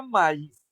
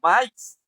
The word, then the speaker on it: maíz: Entonces, si la palabra fuera así, se pronunciara maíz en lugar de maíz, entonces ahí ya pues